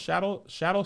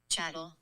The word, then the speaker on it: chattel: Is it pronounced shadow slavery or chattel?